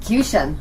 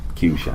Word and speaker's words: Qshan: comes, you just pronounce it like nation. Qshan. Qshan.